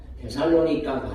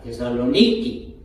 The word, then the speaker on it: 데살로니키: 하던 목사님이 그러 거예요 데살로니가 아니고 원래 그곳의 발음은 따라 데살로니키 데살로니 저 그렇 초 택기 하듯이 데살로니키 아고 원래이 데살로니가의 발음이 그렇다는 거예요이 대사로 이기라고 하는 지역은